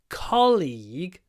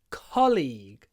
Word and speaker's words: colleague: colleague from Australia so colleague kle colleague the stress is on the first syllable it's a CO League